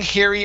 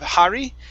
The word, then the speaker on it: hairy: Very good Um and the last one here is hair Okay Strong hairy arms instead of har hairy hairy hairy arms Mhm Good